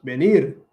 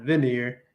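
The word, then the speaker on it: venir: explain to her that um that the correct pronunciation was benir and not veneer and then she she didn't believe me I'm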